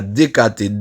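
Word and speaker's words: δεκάτη: grec qui traduit dim c'est DKT j'ent le prononc à DKT D E K a T e et MB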